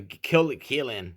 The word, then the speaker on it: Qilin: And if you look at the Chinese, they have this symbol called the Guilin. I actually have cloud formations of this. It's like the Qilin. It's spelled Quilin, something like that.